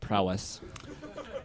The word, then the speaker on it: prowess: i'm saying it right put the emphasis on the front on the first part hunter's prowl s there's no l in it you're putting an l